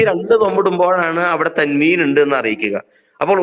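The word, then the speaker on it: تنوين: രണ്ട് ദമ ഇടുമ്പോഴാണ് അവിടെ തൻവീൻ ഉണ്ട് എന്ന് അറിയിക്കുക അപ്പോൾ ഉച്ചാരണത്തിൽ അതിന എന്ത് ചെയ്യണം ഒരു നൂനിനെ ചേർത്തു കൊടുത്തുകൊണ്ടാണ് ഉച്ചരിക്കേണ്ടത് അതേപോലെതന്നെ അലീമിൻ റസൂലൻ റസൂലൻ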